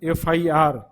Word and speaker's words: FIR: उसी तरह ही lodged N FIR, FIR ए, FIR ए, मतलब कि FIR के पहले हम एन का प्रयोग करेंगे।